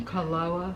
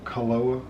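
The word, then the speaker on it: Kualoa: maybe i don't know you pronounce it like every letter that's what i've noticed in hawaii you pronounce every letter there's no silent letters even if they're double letters you say both letters they're two a's you say them both um but we got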